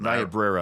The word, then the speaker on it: Niobrara: I could never pronounce it. Niobrara, I can pronounce for you.